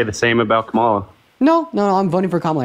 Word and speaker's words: Kamala: I'm voting for Kamala Harris because also her name is pronounced Kamala, okay?